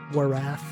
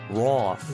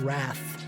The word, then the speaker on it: wrath: It doesn't even make sense phonetically. Warath. No, it does. I think people get tripped up about silent letters because you think it's not supposed to exist. It's supposed to exist. It's just not the way that you think. No, not the W. The aw. Roth.